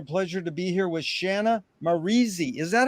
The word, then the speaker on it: Shanna Maurizi: It's an honor and a pleasure to be here with Shanna Maurizi. Is that how you pronounce it?